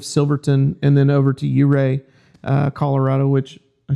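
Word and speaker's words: Ouray: the city of Silverton and then over to Uray uh Colorado, which I said it right.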